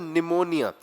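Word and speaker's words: pneumonia: ठीक है, फिर यहाँ पे देखो तो निमोनिया, इट इज एन।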